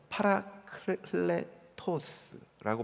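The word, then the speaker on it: παράκλητος: 음차 해서 번역한 것인데 원래 헬라어 원어는 파라클레토스라고 발음합니다이 파라클레토스의 의미는 크게 세 가지가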